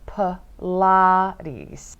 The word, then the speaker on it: Pilates: 필라테스. 필라테스. 필라테스. Pilates 이렇게 발음을 하실 수가 있어요.